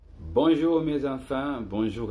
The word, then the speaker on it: bonjour: Bonjour, faire attention à la prononciation de le R.